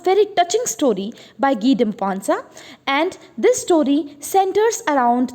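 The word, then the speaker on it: Guy de Maupassant: है जिनका नाम है गी ड मोपांसा. ठीक है, तो ये फ्रेंच नेम है तो थोड़ी अलग तरीके से प्रोनाउंस होगा, गी डे मोपांसा.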